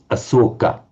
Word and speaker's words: Asoka: And that's the same word that in Pali is pronounced as Asoka.